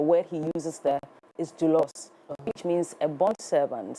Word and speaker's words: doulos: So, you're not far from wrong if you said you couldn't because it's not English. It's it's a Greek word. So, um it is pronounced dulos. Dulos.